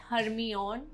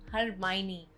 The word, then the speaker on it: Hermione: Word 22, Hermione, not Hermione, Hermione.